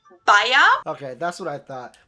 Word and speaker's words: Bayer: didn't know this wow that was the english pronunciation but the correct german pronunciation would actually be baea okay that's what i